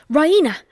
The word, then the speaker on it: Raina: She pronounces it the Raina with the stress on the E. Raina.